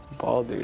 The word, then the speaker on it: Baldur: Baldur, that's how you say it.